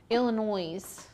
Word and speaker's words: Illinois: Illinois. It's not Illinois. Illinois. It's in Illinois. I know. Ann was saying you don't pronounce the S.